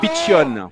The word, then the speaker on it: Piccion: Même si Piccion, on prononce à la Corse.